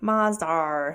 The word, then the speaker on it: Mazda: Mazda. All right. Or as the Brits say, Mazdar.